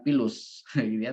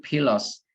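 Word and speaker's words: philos: Yunani yang artinya pilos bacanya bukan pilus tapi pilos yang artinya adalah like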